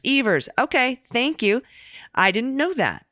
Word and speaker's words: Evers: surprised Governor Tony Evers pronounces his last name to rhyme with beavers Evers okay thank you I